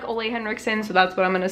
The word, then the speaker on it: Ole Henriksen: Biola Henriksen I know some people pronounce this I think ole henriksen I like Olay Henriksen so that's what I'm